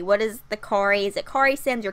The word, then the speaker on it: Corey: is the quarries at Corey Simms or Simms and it's Corey Simms because my name is not so I would think that it would be pronounced Corey but also I have